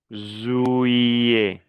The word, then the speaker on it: juillet: Juillet. La doble L como una I. Juillet. Le T final ne se prononce pas.